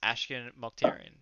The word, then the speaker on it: Ashkan Mokhtarian: It's Ashkan Mokhtarian, dude. I'm Aussie, of course. You actually got it right. Obviously, I can pronounce an Aussie name.